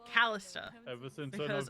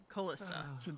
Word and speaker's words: Callista: just been left alone Callie pronounces it callista her father could never pronounce it kalista so long and always called her kalista listen you Chang much